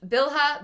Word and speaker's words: Bilhah: Leah and Zilpah, and now Rachel's handmaid Bilhah -- which, bill-hah? Beel-ah? They say beel-ah in Handmaid's Tale so I'm trusting their pronunciation.